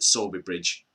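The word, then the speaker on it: Sowerby Bridge: near halifax called well it's spelt saudi bridge but everyone around there calls it sobe bridge but we'll not get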